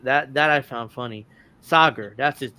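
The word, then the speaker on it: Saagar: This totally butchered his name too and it's like that that I found funny. Sager.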